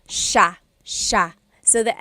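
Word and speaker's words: siya: It looks like it should be pronounced sa cia but it's actually pronounced sha sha.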